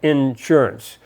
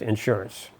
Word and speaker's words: insurance: Down here in southern Indiana, they have insurance. It's almost like a hyphenated word with the accent on the N. Insurance. Up in New York, it's just insurance.